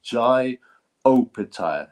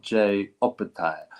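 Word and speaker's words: Jai Opetaia: Apparently it's Jai Opataya, not Jay Opataya.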